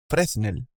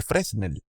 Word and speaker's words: Fresnel: Como en ellos vemos ecuaciones o aproximaciones basadas en las ecuaciones de Fresnel, pero lo voy a pronunciar como se lee en español, Fresnel, para tratar las reflexiones y la transmisión de la luz a través de medios con transparencia.